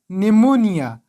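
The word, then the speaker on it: pneumonia: بل مثال ده نیمونیا، دلته له پی نه وروسته ان راغلی او پی نه ده تلفظ شوی، نو موږ نیمونیا وایو، په نیمونیا نه وایو.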